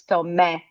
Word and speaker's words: Thomé: It's pronounced in different ways all over Brazil. So it's a fine Tom. It's where I live in Rio, it's Thomé, like this.